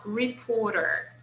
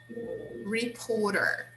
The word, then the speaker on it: reporter: Now, reporter, reporter. This T here, in American English, we use the sound of R.